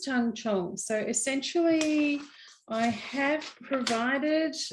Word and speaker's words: tangzhong: sorry about that um it's pronounced tang chong so essentially i have